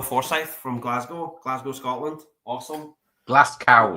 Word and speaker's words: Glasgow: Glasgow, it's pronounced.